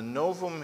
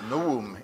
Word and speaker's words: Novum: it was called the novum instrumentum omne or for those of you who know Latin better than most biblical scholars Noam instrumentum omne you don't pronounce the V but all biblical scholars do because we don't know